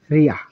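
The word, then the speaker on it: りゃ: এটি কিন্তু রি ইয়া হওয়ার কথা ছিল, কিন্তু এই বর্ণের উচ্চারণ হবে রিয়া।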